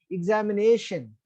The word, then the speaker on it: examination: The last syllable in this word is shan. That is the ultimate syllable. And the penultimate syllable means second syllable is nay. So the rule is, if any word ends in ION, then penultimate syllable should be stressed.